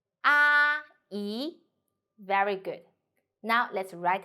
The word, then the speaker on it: 阿姨: The word of today is 阿姨. In this video, I will teach you how to pronounce it, how to write it, and how to use it.